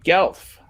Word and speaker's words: Guelph: So good, do you say Guelph or Guelph? Guelph. Guelph, okay. Because on va dire en français Guelph. Yes. But you would never put the W sound in there.